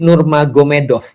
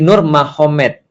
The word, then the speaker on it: Nurmagomedov: Jadi tulisnya Magomed, tapi bacanya Mahomet. Kan gitu kan ya. Jadi Nur Magomedov itu jadi Nur Mahomet.